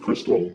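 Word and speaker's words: Xtal: You know the Aphex Twin song, X Tall is actually pronounced Crystal.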